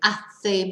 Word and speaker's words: hace: and when we say a say mucho calor there is a H there but of course H isn't pronounced so we don't pronounce